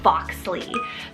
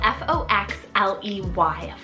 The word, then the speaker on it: Foxley: for something a little bit more edgy is foxly so f-o-x-l-e-y foxley this one is just so cool I